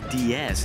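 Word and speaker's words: Deus: Austrian startup, I believe it's pronounced DS, is set to unveil their fully electric hypercar here at the New York Auto Show.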